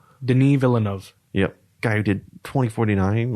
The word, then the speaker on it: Denis Villeneuve: How do you pronounce his name? Denis Villeneuve? Denis Villeneuve.